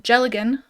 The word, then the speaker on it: dealgan: It's a Scottish drop spindle called a Jelligan, which is spelled Dealgan because I don't know.